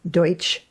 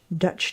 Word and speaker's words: Deutsch: And that was simply an mispronunciation of German, the German Deutsch Dutch dolls.